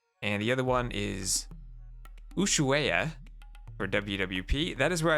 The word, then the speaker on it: Ushuaia: The H in Ushuaia is silent, coming from a native speaker. Okay. So, Ushuaia.